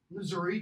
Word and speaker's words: Missouri: it's somebody from Missouri notice how I just pronounced that lighter state Missouri if you're from there my mom was born in northern Missouri just south of the Iowa border it's Missouri okay similarly if you're from